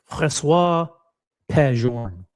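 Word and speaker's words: François-Paul Journe: I say F.P. I pronounce it in French. François P. Journe.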